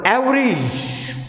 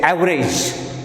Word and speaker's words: average: In another example, average. We say average, but the correct pronunciation of this word is average.